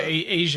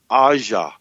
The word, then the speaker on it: Asia Argento: with uh with yeah asia argento yeah i met him in person and i called her asia and he he corrected me he caught he said her name is pronounced asha okay that's also the